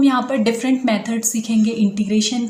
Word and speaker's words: integration: बार जा रहा है, हमारा प्रोनाउंसिएशन गलत होता है इंटीग्रेशन का। इट इज़ इंटीग्रेशन, लेकिन हम में से ज़्यादातर लोग इसको प्रोनाउंसिएट करते हैं इंट्रीगेशन। ग के नीचे र है, ट के नीचे नहीं, इंटीग्रेशन।